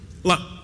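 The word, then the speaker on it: لا: La la itu dalam bahasa Arab yang bacanya panjang ya, dua harakat.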